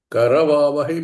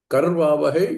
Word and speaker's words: करवावहै: Karavavahai means refa and akara included. Karvavahai is refa only with no akara.